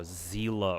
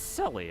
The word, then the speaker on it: Selly: was like, I think I started off calling Selly by like, you know, Zila or something. It wasn't exactly that, but I knew I pronounced her name with like a hard Z, like Z something. But yeah, like somebody came in my chat was when I first started playing Star. I was like, no, her name is actually pronounced as Selly.